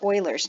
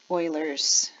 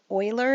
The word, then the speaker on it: Euler: an exponential function so the number e or euler's number and this is the reason actually we don't use e as a variable very frequently and e is approximately equal to 2.71828 okay this is called euler's number and that is in fact how you